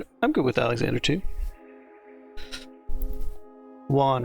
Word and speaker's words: Juan: Juan rhymes with Ron and John.